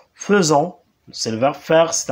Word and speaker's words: faisons: vert faire nous faisons ça s'écrit fait don mais ça se prononce faisons c'est de bien faire